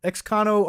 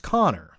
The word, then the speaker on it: Connor: uh x-con x-cono rx by the way it's pronounced connor i guess you're right connor connor it's xconnor x i guess i was overthinking your name there you're right yeah i don't know why i was taking it and putting abbreviations and different yeah you're right it's connor yeah sorry man uh like conor mcgregor it's all good laughing